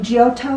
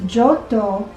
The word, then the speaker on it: Giotto: they were pronouncing it everybody was saying giotto kind of like geppetto but i think the real pronunciation is johto de bondone and i